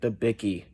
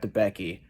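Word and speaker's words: Debicki: couple names uh it i meant to say elizabeth the bicky not the becky uh now not a big deal but i just wanted to point out that's how you pronounce her last name it's eliza elizabeth the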